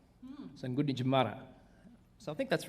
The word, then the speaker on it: Gunditj Mara: Well, I've been told that in Aboriginal language at home, like in English language, we put a lot of emphasis on the second syllable. So there's a place back home called Wodonga, but if you said it like an Aboriginal, it'd be Waranga.